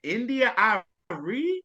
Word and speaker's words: India Arie: And I was like, I think India Arie. That's how you pronounce it.